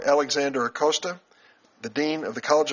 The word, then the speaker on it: Acosta: Alexander Acosta, the Dean of the College of Law at Florida International University. Did I pronounce that right?